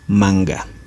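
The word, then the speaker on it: manka: ha n cada marca ustedes como pueden ver es manca sin embargo la pronunciación es manga y miren lo que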